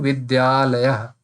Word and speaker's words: Vidyalaya: Now, since you are pronouncing it very fast in when you are speaking Vidya Alaya, Vidya Alaya, if you pronounce it, it will automatically start sounding Vidyalaya.